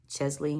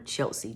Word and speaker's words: Chesley: to say rp to chesley it sounds like i've been saying her first name wrong too because um from first looks at it i was calling her chelsea but it's chesley now i was surprised